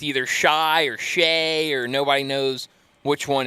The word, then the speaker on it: Shai: Well, I know Shai Gilgeous-Alexander is the biggest one because it's either Shy or Shay or nobody knows which one it is. But it's Shay. Yeah. It's not Shy.